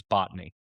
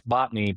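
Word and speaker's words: Botony: floor in Fargo says botany, right? And my dad's my dad's but it's botney. Botney spelled with an A, not an O. B O T O N Y.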